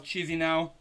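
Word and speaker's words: Chișinău: The correct answer was Chisinau.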